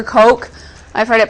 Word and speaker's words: Koch: For our next one, we're going to look at a fractal that's called the, it looks like Koch, but it's either pronounced Cook or Coke.